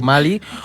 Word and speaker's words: Malí: vez básicamente o sea se puede decir Mali o Mali como nos vengan ganas de hecho la RAE dice que Mali sin acento viene de la pronunciación en inglés y Mali viene de la pronunciación francesa y en España pues